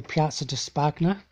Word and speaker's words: Piazza di Spagna: But the bottom of the Piazza di Spagna, that's how you say it, the Spanish Steps,